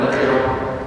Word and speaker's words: نخرة: قراءتنا أإذا كنا عظاما ناخرة ولا نخرة؟ نخرة. القراءة الأخرى ناخرة. Di ayat ini, di Al-Quran ini bacanya nakhirah pendek, tetapi ada di qiraat yang lain itu nakhirah pakai alif panjang.